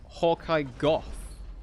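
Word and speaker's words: Hawkeye Gough: It's like Hawkeye Goth, you know? Goth as in cough.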